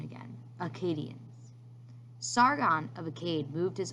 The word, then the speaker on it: Akkadians: Listen to that pronunciation again, Akkadians.